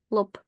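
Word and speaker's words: лоб: head now B is the last letter of this word which means that b becomes P when we read this word so the word forehead in Russian is written with a B but when we read it we say lop lop now if I take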